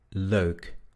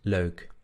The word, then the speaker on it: leuk: Luego tenemos la combinación EU. En holandés se pronuncia E, E, E. Por ejemplo, en las palabras neus o leuk. Neus, leuk. Neus, leuk. Leuk.